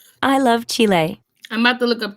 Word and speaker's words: Chile: What is the proper way to say Chile in spring?